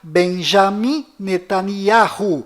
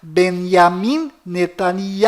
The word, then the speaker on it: Benjamin Netanyahu: bom volta no assunto fora de israel o nome deste primeiro-ministro é pronunciado benjamin metaniarro mas dentro de israel o nome dele é pronunciado benyamin netanyahu ao confira fora dentro